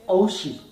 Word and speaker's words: Oushi: Abuela se va a pronunciar en Guayuna como Oushi.